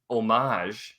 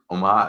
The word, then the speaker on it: Homage: brand new shirts from omage omage I'm I'm gonna say it correctly even though my temptation is to pronounce hes where they exist uh so yeah we